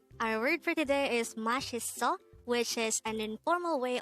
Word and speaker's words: 맛있어: saying delicious again our word for today is mashiso which is an informal way of saying there